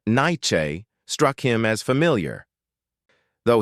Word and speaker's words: Nietzsche: "Thomas Nietzsche," the man replied, accepting the coffee gratefully. His voice carried a slight accent that Jacob couldn't place, and he pronounced his surname like Nye-chi.